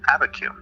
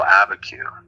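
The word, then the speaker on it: Abiquiú: This is the original pronunciation for abacu. So abacu is a Spanishized version of the Tewa word Aveh Tsugeh.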